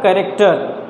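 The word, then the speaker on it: character: सीखेंगे एंड से fourth word है आपका कैरक्टर नॉट कैरक्टर और हम लोगों में से बहुत सारे लोग हैं जो सही प्रोनाउंस करते हैं मैं उनकी बात नहीं कर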